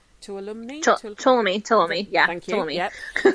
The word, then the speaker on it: Tuolumne: And it was, I don't know how to pronounce it, Tuolumne? Tuolumne, yeah.